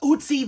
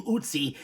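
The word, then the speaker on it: Ötzi: No, we're talking about Usie the Iceman. Am I pronouncing that correctly? Well, according to Google AI, it's pronounced Usy, which rhymes with Tootsie, like Tootsie Roll.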